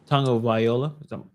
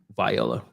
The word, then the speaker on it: Tagovailoa: I actually wanted to show you this video from the Miami quarterback, Tua Tagovailoa. Viola. That's not how you pronounce it.